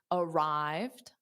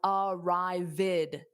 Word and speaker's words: arrived: Now, the ED doesn't add an extra syllable in this case, so it's arrived. So it's two sounds. Airport, dada, is a noun, and then morning, dada, is a noun as well. Manuel, arrived is two syllables. This is important because when ED adds an extra syllable, it adds an id sound.